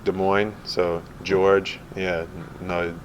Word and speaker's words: Georges: with it uh the the S is silent like De Moine so George yeah no it's spelled in French so it was George but people just call me George